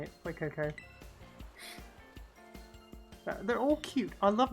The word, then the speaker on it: Fuecoco: Fuecoco.